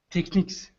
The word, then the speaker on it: techniques: take take you niques techniques good yes it looks like technology but the ending is very different techniques can be this